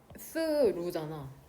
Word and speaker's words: through: 그래서 화면 보면 얘 스루잖아.